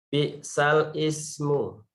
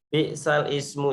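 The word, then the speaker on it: بئس الاسم: Di sini tulisannya itu 11 di tulisan bi'sal ismu ya. Bi'sal ismu fusuqu ba'dal iman. Nah, bi'sal ismu ini ya, itu membacanya bukan bi'sal ismu tetapi jadi bi'salismu. Bi'salismu. Ya, dari bi'sal ismu menjadi bi'salismu. Ya.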